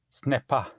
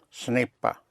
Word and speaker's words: ce n'est pas: Ce n'est pas. Ce n'est pas.